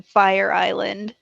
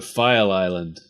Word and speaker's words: File Island: I keep thinking that you're mispronouncing Fire Island no file Island so only slightly less